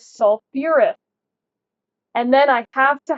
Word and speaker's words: sulfurous: So we take our stem, our sulf, and I'm going to add an extra syllable because that's what we call it, makes it a little easier to say. And I add my OUS ending. So this is sulfurous.